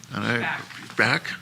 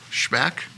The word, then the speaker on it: Schback: They are Adam Gaska and Dave Schback. That's how it's pronounced? Schback?